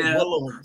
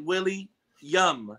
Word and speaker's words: William: Because the subscribers be getting in on me because they be saying I say Willem. So I like it's like Willie Yum.